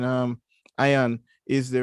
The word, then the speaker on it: ion: could try though um it's actually not pronounced as ian but anybody can pronounce